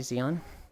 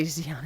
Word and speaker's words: Xion: Because Shion's actually Xion. But no one that didn't play Kingdom Hearts would pronounce it as Shion.